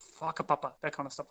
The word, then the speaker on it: whakapapa: natives of New Zealand, a W and a H is pronounced as a f, so an F. So whakatane, whanganui, whakapapa, that kind of stuff like that.